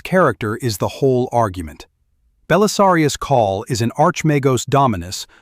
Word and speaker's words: Belisarius Cawl: Bellisarius Call is an Arch Magos dominus of the Adeptus Mechanicus pronounced if you want it right Bellisarius Call and Arch Magos as Arch Magos.